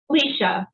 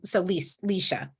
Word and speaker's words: Leisha: How do you pronounce her first name? Leisha. She takes no worries. It's hard to pronounce her name based on the. Well, I just names are important, so I wanted to make sure I say it properly. So Leisha. Thank you.